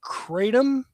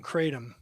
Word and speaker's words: kratom: they're serving I and I might butcher this pronunciation uh katum have you heard of that no is it